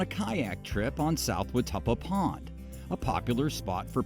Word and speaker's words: Watuppa: Mike, what's the correct pronunciation of this water body? South Watuppa Pond. Watuppa.